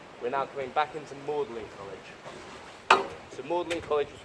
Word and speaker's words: Magdalene: But the reason it's pronounced Maudlin is because Maudlin and Audley sound similar.